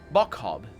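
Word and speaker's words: Boccob: Bokob. Is that how it's pronounced? Bokhob is how it's pronounced.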